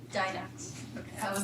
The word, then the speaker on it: Didax: How do you pronounce that? Didax. Didax.